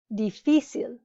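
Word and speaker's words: difícil: the second to last dificil because it breaks the rule a written accent is needed if the emphasis is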